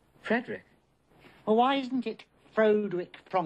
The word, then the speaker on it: Frederick: Do you also say Frederick? No, Frederick.